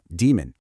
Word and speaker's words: daemon: physics concept called Maxwell's demon, a little background process that sorts molecules. So, you say it just like the science term, demon.